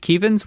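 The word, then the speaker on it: Kevins: before us yeah it's it's spelled Kevin pronounced kevans we are not making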